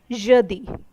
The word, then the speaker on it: jeudi: Thursday in French is spoken as jeudi.